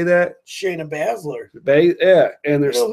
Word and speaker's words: Shayna Baszler: Shayna Baszler.